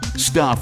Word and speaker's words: Stuph: Stuff is spelled stup ph.